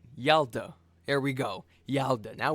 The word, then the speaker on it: Yalta: Okay, so the Y is not silent. Yalda.